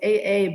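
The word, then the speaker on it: ʻaʻā: So it's AA, but it's pronounced A'a.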